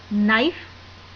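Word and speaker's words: knife: नाइफ अंक ॐ ए नाइफ में के साइलेंट है और कोम में भी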